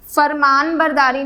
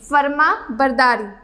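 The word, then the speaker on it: فرمانبرداری: लेकिन नून यहाँ पर पढ़ने में साइलेंट होगा। अगर आप इस तरह से लिखेंगे तो नून यहाँ पर साइलेंट है, इसे हम फरमान बरदारी नहीं पढ़ेंगे, फरमा बरदारी।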